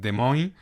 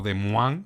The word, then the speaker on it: Des Moines: evento de UFC en de Moin o de Man, si tenemos en cuenta la pronunciación original francesa. Yo voy a quedarme con el con el inglés de Moin.